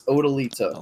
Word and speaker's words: Odyllita: There's no R, right? It's Odyllita. Unless the apostrophe in Korea is pronounced with an R sound.